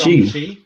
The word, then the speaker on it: Shang-Chi: Apparently, Kevin Feige said Shang-Chi.